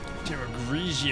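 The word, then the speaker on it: Terragrigia: us to Stage another attack truth about tieroglycia Terra grigia yeah that's how it's pronounced hello Rachel but for something linked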